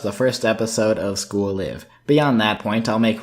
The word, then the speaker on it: Live: its english title school live I know it sounds weird but looking at the translation it's definitely pronounced live and not live is abstence oblate a